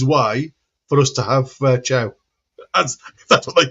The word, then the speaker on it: Malik Thiaw: But no, by the way, apparently Thiaw is pronounced Chow.